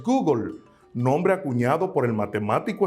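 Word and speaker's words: googol: existe un número que se escribe gogol y su pronunciación en el inglés es google nombre acuñado por el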